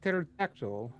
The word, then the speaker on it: pterodactyl: terror to them yeah they look more like pterodactyl so silent p friends also why would